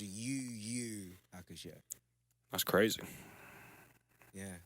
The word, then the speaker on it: Yu Yu Hakusho: Yeah, but it's pronounced UU Hakusho.